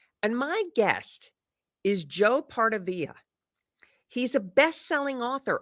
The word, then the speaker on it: Pardavila: But we go with Pardavila because there's only Pardavila. one L there. If there was two L's, you do the fancy pronunciation that you just did, Diane. But our family name is very basic, one L, so Pardavila.